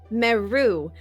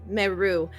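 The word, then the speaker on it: Merrue: name is um Meu which is m e r r u e with a silent e. Um, meou it.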